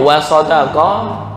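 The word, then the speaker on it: وَصَدَقَ: Wasaddaqa itu artinya dia membenarkan. Tapi kalau wasadaqa dia benar. Benar dan membenarkan kan beda. Beda tasdid aja. Hanya beda tasdid.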